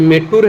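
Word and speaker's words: மேட்டூர்: और मीटर जो है वो मीटर एग्जैक्टली नहीं हो कि मेट्टूर है, तो मेट्टूर तमिलनाडु में ऐसा प्रोनाउंसिएशन होता है, तो ये हो गया हमारा मेट्टूर बांध।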